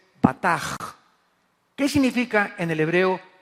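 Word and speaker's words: בטח: La CH en hebreo se pronuncia como J, o sea es bataj.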